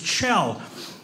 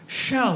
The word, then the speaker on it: Kjell: same thing I go hi my name is Chell you guys always go oh shell like a seashell I go no it's Chell it's like a CH go oh shell like no that's ESS she shut up learn my